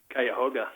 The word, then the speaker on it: Cuyahoga: anyway pleaded guilty in in what county blake cuyahoga see you got it right now it's no